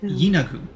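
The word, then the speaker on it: Yeenoghu: The phonetic pronunciation is Yinagu.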